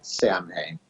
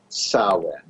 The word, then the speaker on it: Samhain: I pronounce this wrong it doesn't look anything like what it is pronounced okay so when a cow you know soin is how it's pronounced